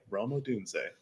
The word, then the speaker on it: Rome Odunze: So now I know how to say his name, Rome Odunze.